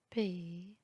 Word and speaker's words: paix: X à la fin du mot est toujours muet, il n'est jamais prononcé. Choix, époux, paix, faux.